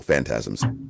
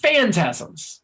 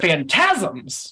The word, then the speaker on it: Phantasms: Well, it's emphasis on the first syllable, Phantasms. Phantasms, not Phantasms.